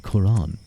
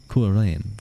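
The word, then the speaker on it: Cuarán: of Dublin so interesting Quran that's a kurin I suppose would probably be the better pronunciation but that's a that's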